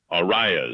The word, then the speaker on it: Arias: Arias or? Arias.